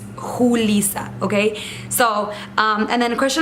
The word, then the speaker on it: Julissa: So my name is Julissa, pronounced Julissa. In Spanish it's pronounced Julissa, not Julissa. A lot of people call me that, Julissa, and it's a J.